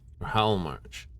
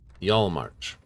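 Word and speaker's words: Hjaalmarch: Just the people of Halmarch. Yalmarch. Usually the H isn't pronounced. Sometimes it's the J. Either way.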